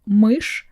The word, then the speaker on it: мышь: So doesn't matter if you put soft sign after it, it won't make it softer. Simply because it's impossible. So душ and мышь have the same sound at the end.